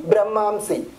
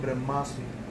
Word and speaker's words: Brahmasmi: He says, Aham Brahmamsi. That's the other word brother said. Aham Brahmasmi. Brahmasmi. So forgive my pronunciation.